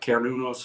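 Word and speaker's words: Cernunnos: Cernunos? That's okay. Cernuna? It's one way to pronounce it. Some use the hard C, some use the, Okay. but Carnunos is what I usually use.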